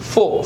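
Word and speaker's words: folk: પછી ફોલ્ક, it's cold ફોક.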